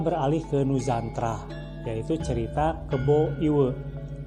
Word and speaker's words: Kebo Iwa: Kita beralih ke Nusantara, yaitu cerita Kebo Iwe. Kalau nulisnya Kebo Iwa ya, tapi kalau Bali kan dibacanya A itu jadi E. Jadi untuk seterusnya akan menyebutnya dengan Kebo Iwe.